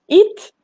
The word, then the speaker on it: HIIT: C'est quoi exactement, Cécile, le HIIT? Alors, le HIIT, en fait, ça s'écrit H-I-T-T et ça veut dire en anglais High Intensity Interval Training. Pardon, H-I-I-T.